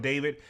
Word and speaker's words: d4vd: So, pretty much first topic now, I'm pretty sure his name is pronounced David.